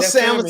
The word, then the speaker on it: salmon: great in that salmon I know little salmon I don't pronounce that L did I did I